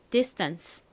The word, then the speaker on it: distance: distance. 한 번 더 해볼게요. T가 원래 T 소리가 나는데 S의 바로 뒤에 와서 된 소리 난다고 말씀드렸죠?